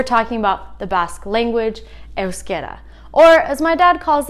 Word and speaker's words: Euskera: But today, we're talking about the Basque language, Euskera. Or, as my dad calls it, Euskara. There are many different ways to pronounce things in Basque.